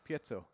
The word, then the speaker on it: piezo: How do you pronounce piezo?